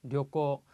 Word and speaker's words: 旅行: 앞에 료는 발음이 짧고요. 뒤에 코가 발음이 깁니다. 그래서 주의를 해 주셔야 됩니다. 앞에 짧고 뒤에가 긴 발음인 경우 앞에 영향을 받아서 뒤에도 짧게 료코 이렇게 발음하시는 분들이 간혹 계시더라고요.